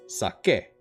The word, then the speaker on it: Sake: Sounds more like A than E. Yeah, or just the actual pronunciation of E. So like when you're in school and you're learning the sound E makes, that's the sound that it's making in their name.